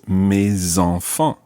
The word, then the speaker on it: mes enfants: So normally the S is silent, but when it's followed by a vowel, it becomes mes. In this case, mes enfants.